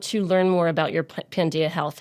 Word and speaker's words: Pandia: Um, we chose Pandia, the Greek goddess of healing, light, full moon because we're all about women's empowerment. And then everybody's like, "Panda health." And I'm like, "No, panda health."